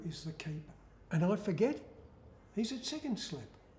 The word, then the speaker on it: Forget: And I forget, he's at second slip. And actually they pronounce it Forget.